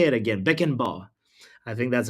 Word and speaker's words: Beckenbauer: Beckenbauer. I think that's how you pronounce his last I name.